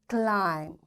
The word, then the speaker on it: climb: calm two bomb thumb climb and lamb in all these words you can see b is silent why because before b